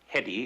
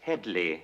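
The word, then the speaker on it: Hedley: you H thank you it's not Hedy it's Headley Headley Lamar what the hell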